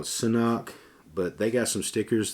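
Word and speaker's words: CNOC: So either it's a hard Sanok life or a hard knock life. So I'm assuming they pronounce this thing knock.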